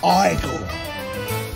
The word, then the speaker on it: Igor: You must be Igor. Nope. It's pronounced Igor.